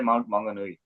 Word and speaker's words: Mount Maunganui: साथ सी है, कौन सा बड़ा प्यारा सा माउंट मैगनवी, क्या आप कैसे प्रोनाउंस करते हैं? हाँ जी, ये एक शहर है तोरंगा, तो उसके साथ छोटा दूसरा टाउन सा है माउंट मांगनूई।